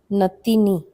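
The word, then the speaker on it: नातिनी: Then we have the term natini or natin. These two terms, natini, sorry, there's no double A here. It's just natini.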